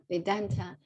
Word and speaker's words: Vedanta: know everything indenta so the highlights should be on the second the straights should be on the second syllable vidanta vedanta is a kind this